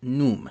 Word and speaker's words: Khnum: The implement was associated with the creator god Num, and that's spelled Khnum in English a lot of times, a ram-headed deity who was depicted as an artisan.